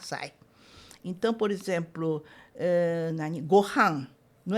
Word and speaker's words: gohan: Então é, não é Gohan, mas é Gohan.